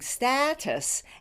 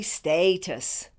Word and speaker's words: status: syllable for both words that a is pronounced as an American short vowel a because for both words